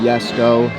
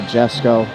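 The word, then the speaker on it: Jesko: think that is here the new yes go or Jesco however you want to pronounce it I have not seen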